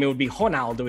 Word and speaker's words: Ronaldo: name it would be honaldo in portuguese the r is pronounced like an h but but that's okay